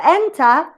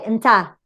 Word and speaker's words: enter: in the case of enter, you will see a schwa. Here you have a schwa. So you cannot say enter, it's enter. The stress goes to the first syllable.